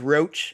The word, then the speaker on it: Roach: My last name is Roach, and there's no accent above the E or anything, but I often get Roche or Roche a lot of the time.